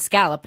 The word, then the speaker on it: scallop: Scolops. Yeah. So it's it's he says aunt and scolop. I say ant and scallop.